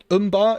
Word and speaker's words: Umber: gonna kill them all umbar is the correct way to say oh okay thank you